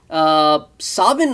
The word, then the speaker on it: Samhain: ये एक्चुअली सावन ओरिजिन है, जिसे SAMHAIN करके लिखा जाता है। ये इसके प्रोनाउंसिएशन, लेकिन सावन आती है, सावन।